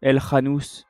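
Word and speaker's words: El Khannouss: au Maroc contre l'Espagne, El Khanous. Si on dit ça comme ça, ou El Khanous. Je pense que c'est plutôt El Khanous qu'on prononce.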